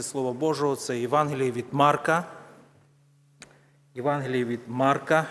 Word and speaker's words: Марка: Божого це Євангеліє від Марка Євангеліє від Марка я подивлюся подивися Огієнко ставить наголос саме на марка вчимося української правильної 9-й